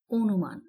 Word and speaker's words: অনুমান: কিন্তু উচ্চারণ ভুল হবে এরপরে আছে অনুমান আমরা উচ্চারণ করছি অনুমান কারণ অ এর পর একটি রসকার ছিল এখানে তোমরা একটু লক্ষ্য করো এই নয় যদি আমরা হসন্ত না দেই তাহলে উচ্চারণ কি হবে অনুমানও তাহলে নিশ্চয়ই বুঝতে পারছো হসন্তের কিন্তু অনেক গুরুত্ব এই বিষয়টি খেয়াল রাখতে হবে